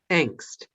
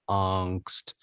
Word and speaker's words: angst: you will find that the first pronunciation is indeed angst and the second one is angst so uh i should